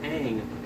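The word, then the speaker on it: Aang: sworn no but they pronounced Ang on oh right that IDE because apparently two A's makes an o sound it's also why I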